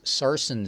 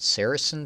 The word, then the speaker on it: sarsen: stamped the bar stamp the bin is sarsen stone and I think I said Saracen stone yesterday so I was pronouncing it wrong alright seven of those